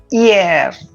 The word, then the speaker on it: hier: Hi is giving the sound of e. All right. E, air. The one It is a similar pronunciation related to parler.